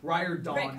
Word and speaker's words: Riordan: Riordan is actually how you say it.